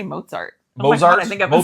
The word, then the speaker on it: Mozart: Like with the T. You just You kind of don't do a T sound. You're like Mozart. I say Mozart.